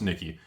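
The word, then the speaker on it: Nikke: Yes, it's pronounced Nikki.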